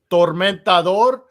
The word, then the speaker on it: Tormentador: Oh, in Spanish it's pronounced Tormentador, which is tormentor, but it's two guys from that were in Holocausto back in the day or whatever.